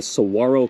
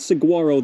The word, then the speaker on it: saguaro: you can see the saguaro cactus it's not Saguaro the g is silent it's Saguaro Cactus is